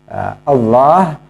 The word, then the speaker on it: Allah: Atau sebagian orang kemudian mengganti lamnya dengan wawu. Allah menjadi Allah, pakai wawu W. Allah, dia mengatakan begitu. Nah, ini juga keliru, harus pakai lam Allah.